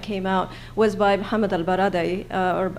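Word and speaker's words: ElBaradei: latest one that came out was by muhammad al-baraday or albarade as people pronounce his name and he has a very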